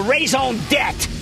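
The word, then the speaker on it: raison d'être: need what i call raison debt i learned that in french class you don't pronounce the re jack and i see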